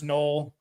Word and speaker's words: Noel: I'll take Jaylen null spell Noel but it's pronounce null we're just gonna we're